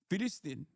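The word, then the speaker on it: Filastin: Free Fallstine is like Philistine is how you say it is actually how you say it in in like he's he's saying it in the in the correct way in the Arabic pronunciation. He's saying it in the OG way.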